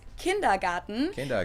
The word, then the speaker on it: Kindergarten: that is kindergarten yes in German we pronounce it kindergarten it literally means children's